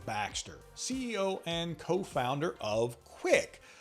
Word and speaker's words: Qwick: ceo and co-founder of quick that's spelled q-w-i-c-k they're a gig economy